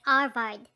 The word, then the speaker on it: Harvard: you call it yes pronouncing it arvad since the h is always silent in spanish oh yes indeed i know harvard it is a college